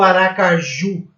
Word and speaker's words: Aracaju: Aracaju ou aracaju? Aracaju.